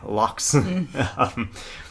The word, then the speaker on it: loch: in the Scottish Highlands, lochs, I should say, lochs. Say it right.